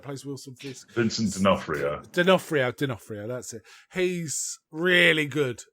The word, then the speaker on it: D'Onofrio: D'Onofrio, that's it.